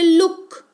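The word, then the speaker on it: look: ऊ, जैसे लुक, यहां पर लोग तो नहीं पढ़ते इसको, लोग पढ़ते हैं क्या? अगर ओ का उच्चारण सिर्फ ओ होता तो उसको लोग पढ़ते, नहीं पढ़ रहे हैं ना, लुक पढ़ रहे हैं इसको।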